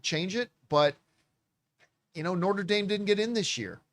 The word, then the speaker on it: Notre Dame: If Notre Dame wanted or Notre Dame, I forget, but it's pronounced Notre Dame, not If Notre Dame wanted to get in, they should have beat Miami.